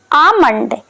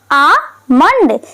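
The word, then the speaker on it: almond: बादाम को हम इंग्लिश में बोलेंगे आमंड। आमंड, क्योंकि इसमें यल साइलेंट होता है।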